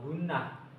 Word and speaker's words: ghunnah: Apabila ada nun dan mim yang bertasdid, maka dibaca gunah dan cara membacanya berdengung serta panjangnya 2 alif atau 4 ketukan.